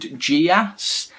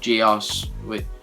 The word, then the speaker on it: Geass: And anyway, this alien girl gives this Lelouch schoolboy like this power called Geass, or Geass. The Americans pronounce it Geass, so just I call it Geass.